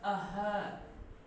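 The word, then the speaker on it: अह्न: ये शब्द है अह, न का उच्चारण नहीं होता।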